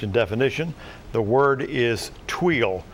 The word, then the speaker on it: tuile: part of speech and definition the word is tuile it's a noun and it's one of the